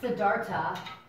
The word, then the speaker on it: Siddhartha: name Siddhartha and some sometimes it's pronounced siddharta like it's not an H at the end but it's spelled like that Siddharth our Siddhartha his